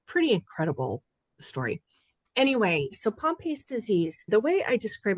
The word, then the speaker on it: Pompe: Start out soft by telling us what Pompei disease is. I got that right. Did I pronounce it right?